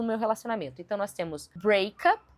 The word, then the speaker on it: breakup: relacionamento, então nós temos breakup e nós temos breakup. Breakup com a primeira sílaba enfatizada é o término em si. Break up significa terminar.